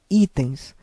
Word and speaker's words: itens: O correto é itens.